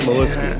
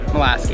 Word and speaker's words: Molaski: You don't pronounce the CH, it's just Molasky. Molasky? Molaski.